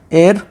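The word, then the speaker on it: heir: अगला question number 14, ही is blank एयर टू the throne, तो इसमें आप लोग सोच लीजिए इसका राइट ऑप्शन क्या हो जाएगा। तो यहाँ पे एच साइलेंट होता है, तो इसको हम कैसे पढ़ते हैं एयर।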